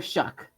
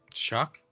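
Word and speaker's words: Shough: Tyler Shuck. Shock. Is that how you say it? Shock. Say it. Yes. Yep. I I looked it up for an article once. That's what it said.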